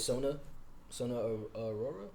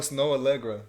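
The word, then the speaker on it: Snoh Aalegra: It's with Sona Aurora. How do you say her name? I don't know. I don't even know who you're talking about. Bro. Oh, Snow Allegra.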